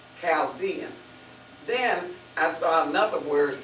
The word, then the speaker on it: Chaldeans: But in this sense, it's pronounced as a K, Chaldeans.